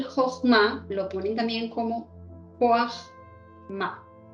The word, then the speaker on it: Jojmá: lo ponen también como Joachma. Esto se pronuncia en hebreo, Joachma.